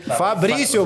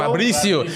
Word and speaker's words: Fabricio: Fabricio, bro. Fabricio.